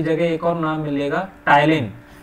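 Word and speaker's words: ptyalin: एक और नाम मिलेगा, टाइलिन, पी साइलेंट होता है टाइलिन, तीनों एक ही चीज के नाम है, अमाइलेज, सलाइवरी अमाइलेज, टाइलिन।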